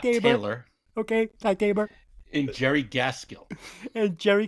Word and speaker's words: Ty Tabor: Okay, Ty Tabor.